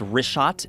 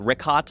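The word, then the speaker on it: Richat: In the first couple uh I just want to say it's Rishot. I used to call it Rickot. I was mispronouncing it.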